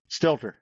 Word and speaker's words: Stelter: Stilter.